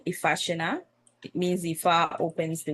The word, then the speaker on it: Ifasina: mispronouncing it or even claiming that they can't pronounce it, because it's an easy name to say, Ifasina.